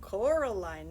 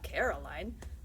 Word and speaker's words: Coraline: name wrong you know they kept saying coraline not caroline not caroline at all he picked up